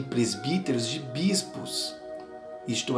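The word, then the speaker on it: πρεσβύτερος: A palavra presbítero é uma palavra de origem grega que se pronuncia como presbíteros, que significa mais velho.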